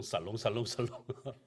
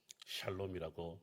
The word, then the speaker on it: 샬롬: 어떻게 발음하냐면 보통 살롱살롱살롱 이렇게 우리나라 사람들 발음하는데 이스라엘 사람들은 지금도 샬롬이라고 인사를 합니다.